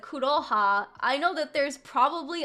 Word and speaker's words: Kuroha: like Vodkasan Vodkasan like mispronounced my name and said like uh instead of kuro yeah instead of kuro kuroha how he didn't know